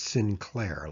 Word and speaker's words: St. Clair: Arthur Sinclair, and it's pronounced Sinclair like the name of the Scottish noble family to which he was related, is the hard-luck general of this history.